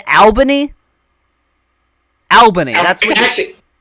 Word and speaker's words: Albany: Albany. You said Albany. Albany. That's what. It's actually pronounced. I'm like, I mean, fuck off, bro. It's Albany.